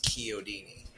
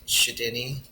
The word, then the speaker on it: Chiodini: None of them could pronounce Key-oh-dee-nee. So my understanding was we Americanized it, like it's spelled Chiodini. Well, Chicago is spelled Chi. So we used to pronounce, or they still pronounce it in the Midwest, Denny, like Chicago. Oh, And okay. a lot of people did get Shadini.